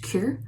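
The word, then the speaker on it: Qure: It's pronounced Cure, but it's spelled Q-U-R, and you can put it on your clothes.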